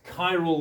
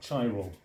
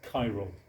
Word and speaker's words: chiral: Optical isomerism is chyal that's chyal with a hard c not chyal like child it's chyal the molecu hey the